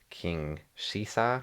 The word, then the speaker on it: King Caesar: Is that how you say it? Yeah. That's not how it's spelled. Uh that's not how they spell it in English because they're going off the English dub basically.